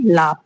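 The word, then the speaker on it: laugh: अगर हम स्पेलिंग पढ़ते हैं तो एल ए यू जी एच। लेकिन इसको प्रोनाउंस कैसे करेंगे? लाफ।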